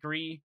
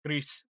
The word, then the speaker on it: Gris: like Gris, or sorry, it's the French pronunciation. It's Gris, but, cause it's Spanish, mm-hmm. I believe. But or Italian, I can't remember. Anyway, it's Gris. I'm French speaking, so I was in French immersion, so I tend to say Gris, but that's not the correct pronunciation for that game.